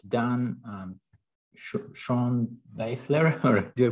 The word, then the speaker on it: Schoenbaechler: So here, so it's Dan, Schoenbaechler, or do I pronounce it correctly? Schoenbaechler.